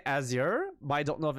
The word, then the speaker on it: Azure: I think it's Azure like you said. Let me double check. What the Okay, this is a British pronunciation. What does the American pronunciation sound like?